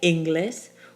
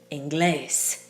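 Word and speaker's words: inglés: the accent falling on the second to last syllable but that's not how we say it we don't say English we say English we have to write in that accent mark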